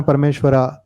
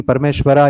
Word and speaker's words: परमेश्वर: आपकी एक और किताब कृष्ण परमेश्वरा कुछ ही समय में आने वाली है. हालांकि मैं जानता हूं कि परमेश्वरा योगेश्वरा नहीं बोलना चाहिए, योगेश्वर परमेश्वर है, पर ये स्पेलिंग है.